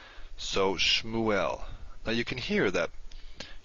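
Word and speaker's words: שְׁמוּאֵל: the end of a closed syllable you don't pronounce it let's take a look at two examples the first one is shmu el which you may be able to guess means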